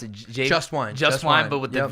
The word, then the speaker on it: Jvst: How did you pronounce it? Jvst Wine.